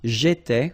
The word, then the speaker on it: j'étais: J'étais, okay? Remember, here we've got accent aigu, so it goes like et, all right?